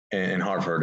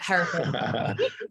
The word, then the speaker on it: Hereford: like yoga retreats in Hartford at the farm, right? And you mentioned Bhakti as well. I'm sorry, I said Hartford, right? How do you say it? Okay, everyone does it. Hereford.